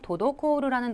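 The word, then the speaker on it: 滞る: 이 동사를 발음하실 때 주의하셔야 될 거는 앞에는 토, 청음이고요. 그 다음에 이어지는 노, 땡땡 붙여서 읽어야 된다는 거 주의하셔야 되겠습니다.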